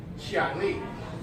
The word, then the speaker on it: Qianli: Second tone, fourth tone. Up, then down.